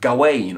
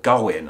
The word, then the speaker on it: Gawain: The name Gavin is actually the modern English adaptation of the much older English name of Gawain or Gawain. I saw it pronounced both ways.